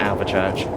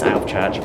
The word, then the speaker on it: Alvechurch: Just going to point out that I keep on calling it Alvechurch. It's Alvechurch, I got it wrong.